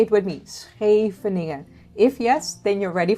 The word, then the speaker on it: Scheveningen: Can you pronounce Scheveningen? Scheveningen. Say it with me. Scheveningen.